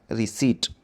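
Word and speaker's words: receipt: ए आर ई सी ई आई पी टी है बोलते हुए पी साइलेंट रिसीट मीन प्राप्त होना तो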